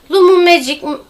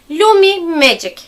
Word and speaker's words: Lumi Magic: başladığımdan beri böyle söylediğimde lumu Magic lumu Magic hep böyle söylüyorum yani yanlış telaffuz ediyorum Bir türlü dilim dönmüyor lumi Magic H Böyle tane tane söylemeliyim ben şöyle biraz ışıltı